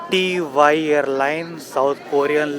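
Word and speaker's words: T'way: इन लोग एयरलाइंस का नाम को प्रोनाउंस कर रहे हैं टी TY, इंग्लिश में टीवी लिखा है, मुझे लगा टीवी बोलते होंगे बट TY हम लोग प्रोनाउंस कर रहे हैं।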